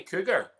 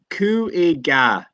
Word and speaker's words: Cúige: Do you say cougar? So no, I don't think. No, it'd be like so. Cúige, like it'd be Cúige.